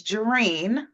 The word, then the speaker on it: Gereen: my name is Jaren it's spelled and looks like green so I always have to say it's jene like Tangerine so I've been saying